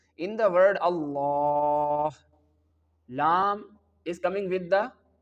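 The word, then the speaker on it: الله: in the whole Quran whenever the word Allah comes with duma and fatha on the letter lamb this word will get thick sound and we can pronounce it like all.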